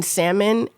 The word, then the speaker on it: salmon: They pronounce the L in salmon and I was like, we're never going to be friends.